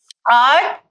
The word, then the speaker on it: earth: it a to watch earth and the pronunciation of the combined of the vowel e and a is like the pronunciation of the letter bird.